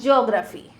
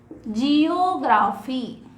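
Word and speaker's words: geography: अच्छा, बायोग्राफी तो we have taken here, so this is ज्योग्राफी, जियोग्राफी। लेकिन इसे जियोग्राफी प्रोनाउंस नहीं करते, ज्योग्राफी प्रोनाउंस करते हैं, सब्जेक्ट जियोग्राफी।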